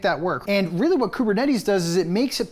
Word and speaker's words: Kubernetes: Kubernetes.